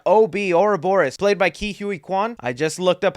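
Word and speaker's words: Ke Huy Quan: the characters and OB Ora Boris played by Ki Hui Kuan I just looked up how to pronounce the name and that's how he said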